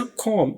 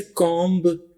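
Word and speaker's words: comb: तो उसमें भी बी को प्रोनाउंस नहीं करते। कॉम हालांकि बातों गलती से कॉम्ब भी कह देते हैं। तो कॉम्ब नहीं बोलना आपने। कॉम बोलना है।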